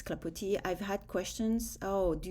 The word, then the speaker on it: Clapoti: I took off the s because you don't pronounce it in French. Um, so that's why it's clapoti.